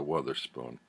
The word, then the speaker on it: Wotherspoon: Melissa Wotherspoon. I'm assuming it's pronounced Wother, like mother and other.